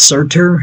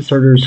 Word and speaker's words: Surtur: It's Surtur, I think is how it's pronounced.